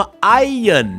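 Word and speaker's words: iron: ใส่ เลย นะ ฮะ คำ นี้ ออก เสียง ว่า ไอ เยิน นั่น เอง ครับ อาร์เยิน หน้า นะ ฮะ อ้า เย็น นะ ครับ ตัว R จะ ไม่ ออก เสียง นั่น เอง นะ ครับ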